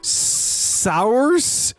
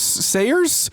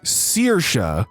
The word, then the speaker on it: Saoirse: Sours? Awful mispronunciation. I am aware sours Sayers Sayers is a name. It's my name. It's Irish and pronounced Saoirse.